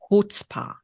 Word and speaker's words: chutzpah: Chutzpah. Yeah, apparently no C. No, okay. You don't pronounce the C.